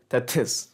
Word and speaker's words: Tethys: Now, there are many different ways to pronounce that word Tethys, but I'm going with Tethys, right?